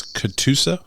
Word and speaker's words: Catoosa: it through through uh and tell me it's katusa is that right correct how can you spell it can you spell it for me c